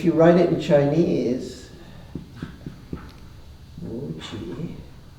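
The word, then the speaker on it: 無極: But more frequently they talk about Wuji, this is really a great word, Wuji, whoops, bad spelling, Wuji, J-I, both rising tones. And if you write it in Chinese, Wuji, it's pretty high.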